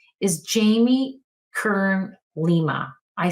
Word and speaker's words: Jamie Kern: And her name is Jamie Kern Lima. I say her name incorrectly because I always want to say it's Jamie Lee first, but it's not. It's Jamie Kern.